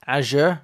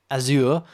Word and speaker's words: Azure: what i wanted to say and also it's pronounced azure not azure as i mentioned wow um okay so let's